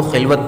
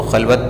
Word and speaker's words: خلوت: درست کر رہا ہوں۔ اور اس لفظ کو پڑھنے کا طریقہ اس طرح کچھ ہے کہ تو ہے خلوت میں، یعنی زبر کی حرکت سے ہم کو اس کو خلوت پڑھنا ہے، جو کہ صحیح تلفظ ہے۔ جو شاعر کہہ رہا